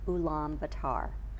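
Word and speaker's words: Ulaanbaatar: people live in the one city center of ulam batar you pronounced it correctly good oh well thank you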